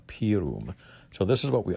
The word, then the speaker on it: pirum: the inside front cover it's not said utpiros prium it's said udpirus pirum so the word is p-i-r-u-m p-room so this is what